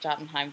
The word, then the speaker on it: Jotunheim: It's not Jotunheim, it's like Jotunheim, or I don't know. I'm pronouncing it Jotunheim for this because that's the easiest way.